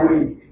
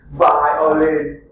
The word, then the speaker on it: violin: Don't say we. Violin.